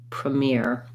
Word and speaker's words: premiere: trying ear mirror premiere anytime we have second syllable stress it can be helpful to just say the stressed syllable and then tack on your first syllable really briefly and shortly like you could even say mir amir the mirror that's going to help you get the rhythm then move to premiere mere premiere uh thank you for